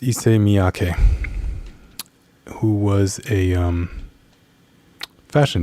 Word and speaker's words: Issey Miyake: it's taking a second i believe the man's name is pronounced issei miyake who was a um